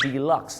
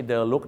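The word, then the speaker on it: deluxe: ห้อง พิเศษ นะ ครับ บอก ฝรั่ง ค have a de Look อื เพ ออก เสียง ว่า delux นั่น เอง ครับ delux นะ นะ ฮะ ไม่ ใช่ The Look นะ ครับ delux ครับ พี่ น้อง ชาว ไทย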